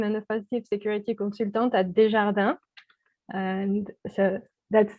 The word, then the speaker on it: Desjardins: and I am an offensive security consultant at desjarda and so that's how you pronounce it the Frenchie and everything thank you